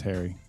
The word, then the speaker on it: Hari: Main character in Foundation's name is Harry, but it's spacey. It's spelled Hari.